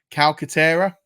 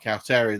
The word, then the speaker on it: Calcaterra: And then the last one, and this is a bit of a chaos play, is Grant Calcaterra, I think is how it's pronounced. Calcaterra. That is how I'm interpreting it.